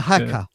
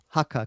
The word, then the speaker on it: haka: She She's got a little bit of a pronunciation problem. She has karma instead of pharma. That's right. The hacker. Haka.